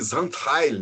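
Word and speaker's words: Xaintrailles: Outro caso mega curioso, documentado também, é da Madame Zandheil, né? A pronúncia correta é essa.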